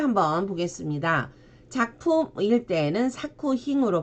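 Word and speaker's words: 作品: 작품일 때는 사쿠힝으로 발음을 해주시고 제작일 때도 세이 사쿠, 작용일 때는 사요로 발음을 합니다.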